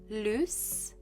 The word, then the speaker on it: loose: a difference in pronunciation lose has a z sound loose has an s sound there is also a